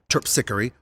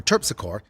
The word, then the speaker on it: Terpsichore: Charles on the parade route, like Melpomene or Melpomene, Calliope or Calliope, or Terpsichore or Terpsichore, it's New Orleans. You can pronounce them any way you want.